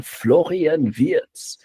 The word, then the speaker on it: Florian Wirtz: That's the pronunciation. Florian Viet um on a scale of 1 to 10, how excited are you?